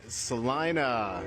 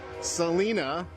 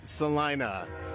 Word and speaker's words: Celina: All right, welcome to Eat Stark Naked Live and today we are in Salina. Not to be pronounced or confused with Selena. No, it's Salina.